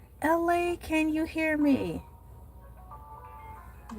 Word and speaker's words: Elay: I am your host, LA, pronounced like LA, like the city.